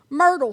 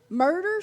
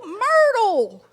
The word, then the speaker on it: Myrtle: on and I said Myrtle Street Murder Street hell no Myrtle like rhymes with girdle she still didn't understand